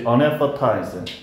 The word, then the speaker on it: anesthetize: 다시 unanesthetize. 여기에 스 사운드와 뜨 사운드가 unanesth 이렇게 발음하면 힘드니까 앞에 스 사운드를 거의 줄이고 unanesthetize 이렇게 읽어주면 돼.